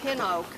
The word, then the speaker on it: pin oak: Because there was no E. If it was pine, it would be P-I-N-E, but it was just P-I-N. So that's pronounced pin oak, and that's a kind of oak.